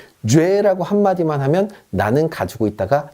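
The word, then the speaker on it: j'ai: 합쳐서 뭐라고 읽냐면 죄라고 읽습니다. 죄. 프랑스어는요, 연음의 언어입니다. 앞뒤로 합칠 수 있으면 가차없이, 여지없이 합쳐버립니다. 아무도 이거를요, 주애라고 얘기하지 않습니다. 그냥 죄.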